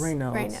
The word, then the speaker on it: Raynaud's: And if you can help me pronounce these again, you said they were Sjogren's, Sjogren's. and then Raynaud's? Raynaud's.